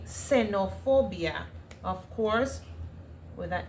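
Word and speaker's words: xenofobia: Senopobia, of course, with a S. Let me just write it. This is how you pronounce it. Yeah. in espanol in Spanish. Mhm.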